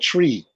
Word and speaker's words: Twi: heard of the people Twi tree tweet however you pronounce it it's spelled t-w-i but it sounds like it sounded like tree that's the tree you